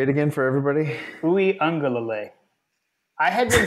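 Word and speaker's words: Uiagalelei: say it again say it again for everybody oui Ang I had been saying oui angele it's not lelay it's l OU Ang um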